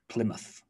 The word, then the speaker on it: Plymouth: of a river but when we're talking about place names we reduce it to muth plymouth can you guys think